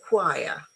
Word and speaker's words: choir: There are some words in English which are written with a CH, but they are pronounced K, as in chemist, as in choir, psychiatry, ache, stomach, chaos, chasm.